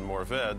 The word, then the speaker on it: Mourvèdre: but we, of course, renamed it Mourvèdre, which is the French pronunciation.